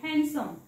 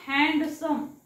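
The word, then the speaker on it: handsome: नेहमी वापरला जाणारा शब्द आहे हँडसम सो हँडसम म्हणताना डी चा सायलेंट आवाज आल्यासारखा वाटतो पण डी सायलेंट असतो ओके सो पूर्ण हॅन्ड सम असं नाही म्हणायचं आहे हॅन्ड आणि सम असं उच्चारायचं नाही सो नेक्स्ट बघूया आपण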